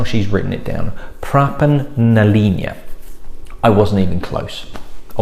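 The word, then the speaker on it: Pràban na Linne: i've probably got it wrong so it is pronounced pra pan nalinia that's how she's written it down praban nalina i wasn't even close i wasn't expecting to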